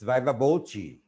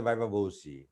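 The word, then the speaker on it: viva voce: facing uh via voi it's via voi all right uh but in bangadesh people say via vosi it's not the pronunciation via voi when we are facing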